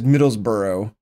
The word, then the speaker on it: Middlesbrough: coming up first uh i will always say it is middlesborough which i'm sure is how you pronounce it because the way it's b-o-r-o is how the town was near me growing up but they spell middlesborough different with the b-r-o-u-g-h so who knows anyways let's get right